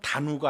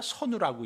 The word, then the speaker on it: 선우: 선우는 그저건 단우가 아니라 선우라고 읽어요. 흉로의 임금을 선우라고 합니다.